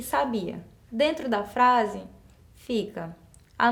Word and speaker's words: sabia: alternativa a mãe sabiá sabia onde estava o sábia então quando eu pronuncio essas palavras com acento correto Eu percebo que muda o sentido e qual que tá